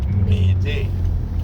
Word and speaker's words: m'aider: But don't pronounce it like that. Instead of that English A sound, the French vowel is shorter.